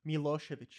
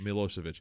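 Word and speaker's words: Milošević: around on uh Milo what how do you pronounce it Slobodan Slobodan means freedom okay what just his last name milosevich milosevich I was seeing if Pary had kind of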